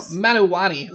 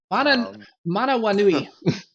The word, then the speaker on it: Manawanui: no, Manuwani. Sorry, mispronouncing your name. Your name. Yeah, I thought you were talking to somebody else. Manawanui.